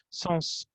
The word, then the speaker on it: sens: Oh, Ça n'a pas de sens, so you pronounce. I pronounce the S.